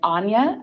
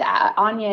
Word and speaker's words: Áine: yes that's right it's Anya I tell people even though it looks like aim it rhymes with Tanja that is a good